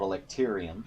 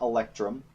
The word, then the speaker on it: electrium: One of the other materials you can make is called electrium, not electrum, electrium.